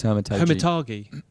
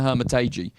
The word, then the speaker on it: Hermitage: I think it's Hermitage. Hermitage? No, but it's age. It says age at the end, so I think you pronounce it Hermitage.